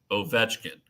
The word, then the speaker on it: Ovechkin: the last week so with uh Russian and Eastern European last names when you have an odd number of syllables you put the accent on the second syllable so if it's like a three-syllable last name kuznetsov Ovechkin you know and you go through the accent is the second syllable and you have four